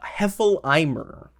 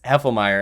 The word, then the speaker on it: Heffelmeyer: v tuber and uh heffel eimer is how he pronounces it and it sounds like a german name i know he he realized that it's heffelmeyer and i was just